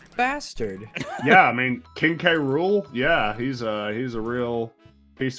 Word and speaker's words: K. Rool: Yeah, I mean, King K. Rool. Yeah, he's a real piece of work. Oh, Hey, speaking of, that kind of sounds like the word cruel.